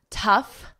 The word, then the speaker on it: tough: The vowel is different, but also the GH at the end is different. Here we have a and F. Tough, bow, there is no GH at the end. It's totally silent. And F again, cough, and no GH. It's silent.